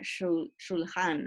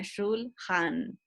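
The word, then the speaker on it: שולחן: Acuérdense en que CH en hebreo se pronuncia como J, cuando está en la mitad el CH. Si estuviera en la primera, la CH se pronuncia como K. Si estuviera al principio de la palabra, pero como está en la mitad sería shulhan.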